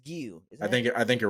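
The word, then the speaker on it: Giyu: Right as that Gio? shit happens, Gio, man, My boy Gio. or Gio. Is it Gio or Gio? I think it's Gio.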